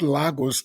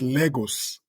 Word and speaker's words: Lagos: Lagos or Legos Legos somebody CAU me and say it's not Lagos it's Legos where is Lagos uh maybe because you pronouncing it the way the Portuguese must have pronounced it but we had to nigeriane it to become Legos yeah yeah wonderful wonderful